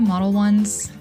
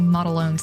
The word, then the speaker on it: Modelones: I'm using the Model Ones. I think that's how you say it. I've been saying Modelones the whole time, but I'm pretty sure it's Model Ones.